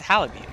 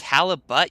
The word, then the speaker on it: halibut: It's halibut. You do pronounce the T? Really?